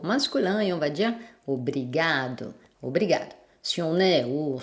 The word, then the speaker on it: obrigado: Par exemple, obrigado, obrigada. Vu que c'est l'avant-dernière syllabe qui est la syllabe forte, on entend peu la fin et on n'entend pratiquement pas si c'est masculin ou féminin.